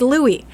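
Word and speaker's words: Luai: I saw that I'm like okay how it's Louie again how did you pronounce this and it's Louis why does it have to be spelled that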